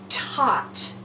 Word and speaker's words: taught: T, aw, t, taught. 3 sounds, but a whole bunch of letters that you have to remember to put in there to spell it correctly.